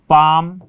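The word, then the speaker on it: palm: हम लिखते हैं ना, पाम, काम, हाफ, ठीक है ना, इस टाइप से ये जो वॉक वगैरह। तो इसमें एम से पहले एल आएगा, एम से पहले एल आएगा तो एल साइलेंट, एफ से पहले ये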